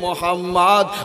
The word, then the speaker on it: মোহাম্মদ: একটা নাম রাখা হয়েছে মিম হে মিম দাল উচ্চারণ হবে মোহাম্মদ আর মোহাম্মদের মানে হইলো